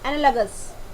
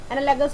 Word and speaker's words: analogous: Next हमारे पास है एनालगस. ANALOGOUS. एनालगस होता है वर्ड, ये हम इसको बोलते हैं एनालोगस. एनालोगस वर्ड की प्रोनाउंसिएशन नहीं है, एनालगस.